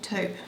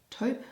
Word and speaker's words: taupe: Americans say taupe, taupe, taupe. Taupe? I'm pretty sure we say taupe.